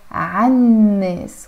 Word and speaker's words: عن الناس: In Arabic it's written here as عن الناس, but we're pronouncing it as عن الناس. Why? Because the noon here is a sun letter, so we don't pronounce the L here.